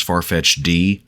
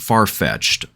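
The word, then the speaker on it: Farfetch'd: refer to it as farfetch D don't ask me why I have no idea why it's pronounced far-fetched but my brain latched onto the apostrophe in the D and so I went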